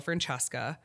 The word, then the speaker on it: Francesca: like how you spell Francesca French season Italian are pronounced like CH when they come before a vowel so like there's no h in my name which most people don't